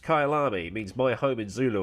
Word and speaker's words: Kyalami: racing calendars the world over today i've got kylami or no it is actually pronounced kailami means my home in zulu according to wikipedia